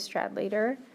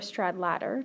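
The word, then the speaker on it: Stradlater: we're going to see two characters strad later or strad ladder depending on how you want to pronounce it and Ale these two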